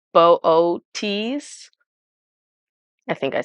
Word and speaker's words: Boötes: this guy and um that's not how you pronounce it because it's got two little dots over one of the O's um so it's pronounced booties I think I said